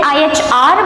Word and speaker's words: ihr: Ihr, again IHR, but IH is supposed to be pronounced and R is silent, so it's ihr.